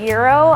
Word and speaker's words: gyro: I pronounce it Euro, I'm pretty sure, because someone corrected me a few years ago because it's spelled gyro, so that's what I was saying, but I was corrected to say Euro, so that's the way